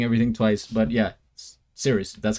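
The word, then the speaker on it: Cirice: I stuttering or saying everything twice but yeah serious that's how you say it um so I'm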